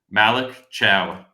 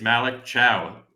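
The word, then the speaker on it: Thiaw: Malik Cow. Um, Thea. That's how it's spelled. Oh, but uh yeah. Um, but yeah, his his it's apparently it's Malik Chow, like um C H O W.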